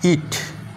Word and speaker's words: eat: EA যদি পাশাপাশি থাকে, একটু আগেই তোমাদেরকে বললাম এর উচ্চারণটা হবে দীর্ঘ ই, তাহলে EA এটা হলো দীর্ঘ ই আর টি এর জন্য ট, তাহলে EAT ইট।